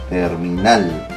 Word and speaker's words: terminal: que se enteró entonces muchos de ustedes cuando han pronunciado terminal pero pronuncia bien terminal terminal no no es center la mayor fuerza de voz está en mal okey terminal juvenal industrial